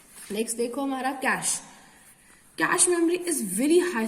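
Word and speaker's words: cache: बीच हमारी आती है कैश memory it is pronounced as कैश memory कैशे memory नहीं है कैश मेमोरी ये है हमारा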